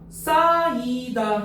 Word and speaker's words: 쌓이다: 자, 쌓이다 했어요. 쌓이다. 오케이? 그러면 쌓이다에서 지금 자, 히읗이 어떻게 됐죠?